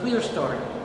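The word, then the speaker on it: clerestory: upper story like that Windows is called the clear story that's spelled c l e r e s t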